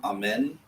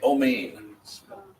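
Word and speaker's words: אמן: have a Sari, but it's pronounced more like a Segol. It has become Amen in modern Hebrew. Sometimes you'll even see it Omein.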